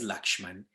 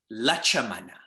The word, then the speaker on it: Lakshmana: of people i teach their comfort is ram is lakshman and to be so specific about this lakshmana's name in tusi ramayana is actually lacha mana so my point in